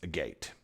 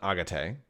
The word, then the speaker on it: Agate: Now, there is certainly some debate on how you pronounce Agate. But it's not Agate. It's not Agate. It's not Agate. It's a gate. Like a fence and a gate, it's a gate.